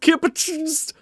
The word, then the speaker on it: KPTSTRZ: Playing the Sylvanas, it is KPTSTRZ, which I believe is pronounced Kipachist.